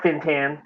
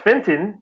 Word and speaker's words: Fintan: she goes all right fintan i was like oh my god it's pronounced fenton but wow you know